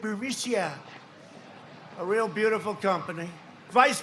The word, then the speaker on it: Burisma: executives so this uh buremisia bermucia they say pronounce it borisia a real beautiful company